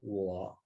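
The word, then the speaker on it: 我: see to it that this character its tone is low very low it's third tone so when you pronounce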